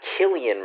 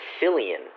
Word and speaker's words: Cillian: said his name wrong it's not Killian Murphy it's Cillian no it's it's not